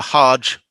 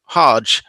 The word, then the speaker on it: hajj: must involve a pilgrimage the transfer of the sound from a uh a hard g the the hebrew letter gimmel to the soft j as in moving from hag to hajj is is quite normal when hebrew words are um are adopted in in arabic so for